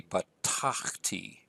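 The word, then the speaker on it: בָּטַחְתִּי: Actually, there should be an accent there. This should be batachti.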